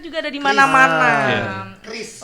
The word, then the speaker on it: QRIS: Chris. Oh, bacanya Chris Chris, ya. bacanya Chris.